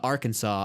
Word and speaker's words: Arkansas: one single fact about arkansas i would say it's not pronounced like kansas that's true america explained